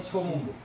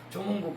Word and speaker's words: 조문국: 그래서 소문이라고 하는 게 그래서 저거를 지명으로 읽을 땐 조문구 같은 소자인데 역사로 읽을 때는 소문구 이렇게 읽습니다.